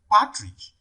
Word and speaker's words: partridge: on the first syllable d partridge it falls on the first level two so the